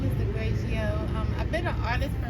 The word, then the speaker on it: Degragioh: We got this young lady by the name of Degragioh.